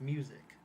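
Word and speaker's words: µ-Ziq: name is this but it's pronounced music he's trying to be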